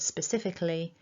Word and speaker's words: specifically: dictionary usage, and that syllable 2 is the stressed syllable. So the strongest part of the word is sif.